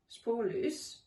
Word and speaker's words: Spoorloos: When I wrote this list, a Dutch film called Spoorloos, I pronounce it Spoorloos, was my favourite film.